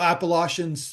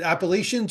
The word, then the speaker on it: Appalachian: that you call it Appalachians. Is it Appalachians or Appalachians? Appalachian is how we say it. I Appalachians? mean, there's a lot of different like Okay. pronunciations of it, but we say Appalachian.